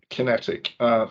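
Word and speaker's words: QinetiQ: Kinetic is ticker is QQ, 2 billion market cap, and I'll spell it out for our listeners just so they can check. Is QUINETIQ. Kinetic.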